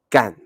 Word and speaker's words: 干: we pronounce it like when you use the word as a verb and it's like in the fourth tone gang to do or to